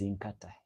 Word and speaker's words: Nkata: My name is Inkata. Inka. N K A T A. But that person they couldn't pronounce it in the right way. So you he used to call me Kata Kata.